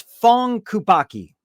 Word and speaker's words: Phuong Kubacki: This is Fong Kubaki.